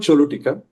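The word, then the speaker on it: Choluteca: Honduras has a river called Cholutika. It's pronounced as C H O L U T E C A.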